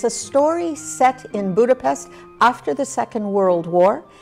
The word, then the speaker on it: Budapest: the Jewish neighborhood of Budapest for many many years I noticed you pronounced not Budapest but Budapest I know my American